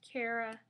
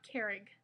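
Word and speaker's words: Cara: and yes in fact that is how you say her name kara not kerrig um it's irish people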